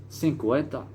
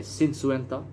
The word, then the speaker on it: cincuenta: you can say cincuenta you can say sin suenta i said i mean they understand you i mean sin suenta and cincuenta when you can understand it i said so however you want to pronounce it i mean it's different dialects i mean sin suenta is one dialect i mean cincuenta is another dialect i mean whatever you